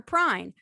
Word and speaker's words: Pruyn: r u y n meat please welcome peter prine hi how are you today thank you so